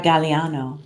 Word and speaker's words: Galeano: a long a or a short a Galliano Galliano okay awesome yes I love that artwork